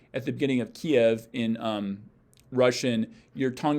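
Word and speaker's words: Киев: your palette ki ki like we would pronounce the word key in english we kind of get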